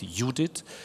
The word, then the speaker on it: EUDHIT: So this will involve also your opinion, because what eudhit really is, and that's the way we pronounce it, eudhit, is someone said all